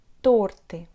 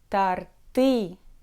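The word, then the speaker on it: торты: word is a word torte torte means cakes most russian speakers pronounce this word as their tarti with the stress on the last syllable but it's not correct and here is a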